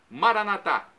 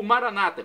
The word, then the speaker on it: Maranata: de alerta de Jesus Maranata como dizemos nós católicos com a tônica na última sílaba ou Maranata com a tônica na penúltima sílaba como dizem nossos irmãos separados os evangélicos ou Protestantes não importa pronúncia o